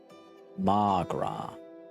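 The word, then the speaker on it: mo ghrá: Come on, Mogra. Irish for my love. One day I could pronounce it as Magra.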